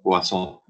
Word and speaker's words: Poisson: Se escribe Poisson, pero es un francés, entonces lo pronuncian Poisson, si no se pronuncia la N final. Y comencemos con a la Poisson, solo vamos a ver el prefijo R.